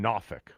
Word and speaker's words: Norfolk: Let's go to Eric in NOFFK or Norfolk. Uh he pronounced it right the first time. That was perfect.